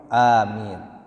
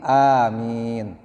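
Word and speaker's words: آمين: munafik lalu kita ucapkan amin am jadi bacanya Ain a-nya dua harakat Min bisa dua harakat bisa empat harakat bisa En harakat kalau du dua harakat begini Amin jadi imam mengucapkan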